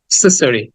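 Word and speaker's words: accessory: বা শোয়া আ বলে মানে আ বলতে চার ভাগের এক ভাগ বলতে হবে এক্সেসরি এক্সেসরি সো আমরা এটাকে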